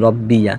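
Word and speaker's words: رَبِّيَ: প্রতিপালকের পবিত্রতা বর্ণনা করছি এখন প্রশ্ন আসতে পারে রব্বি আপনি বললেন অনুবাদের উচ্চারণের ক্ষেত্রে রব্বি আবার মিলিয়ে পড়ার সময় বলতেছেন রব্বিয়া কারণ কি আসলে রব্বি আর ইয়াতে জবর হয়েছে মাফুলের কারণে কিন্তু ওয়াকফ করার সময়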